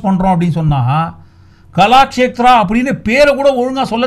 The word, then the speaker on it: கலாக்ஷேத்ரா: KALASHETRA கலாக்ஷேத்ரா, கலாக்ஷேத்ரா. ஏன்னா எதுக்காக spell பண்ணி கரெக்டாக ப்ராப்பராக ப்ரொனவுன்ஸ் பண்ணுறோம் அப்படின்னு சொன்னால், கலாக்ஷேத்ரா அப்படின்னு பேரை கூட ஒழுங்காக சொல்ல தெரியாதவங்களாம் பேரு கெடுக்க வந்துட்டாங்க அப்படின்னு ஊருக்குள்ளே போயினுக்குது.